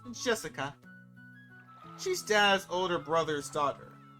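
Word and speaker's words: 朱志香: Anyway, this is pronounced Jessica.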